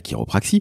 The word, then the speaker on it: chiropraxie: chiropraxie sachez-le ça s'écrit chi ro P r a XIe ça se prononce quelque part à l'américaine chiropraxie donc ce n'est pas avec un cas donc sachez-le si vous